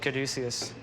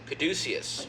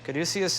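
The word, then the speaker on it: Caduceus: Now, how how do I pronounce it again? I always want to say Kaducius. Kadusius. Kaducius is the winery.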